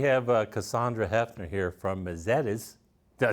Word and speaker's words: Mezedes: Um but we have Cassandra Hefner here from Misettes. Did I say it right? Yeah. All right. All right. Misettes.